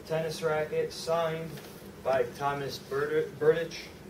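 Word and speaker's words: Berdych: a brand new tennis racket signed by Thomas Burdich. Pronouncing it right?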